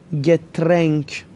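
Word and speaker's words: Getränk: اوملاوت دوستان آیه دو نقطه گفتیم ای تلفظ میشه، پس میشه داس گترنک.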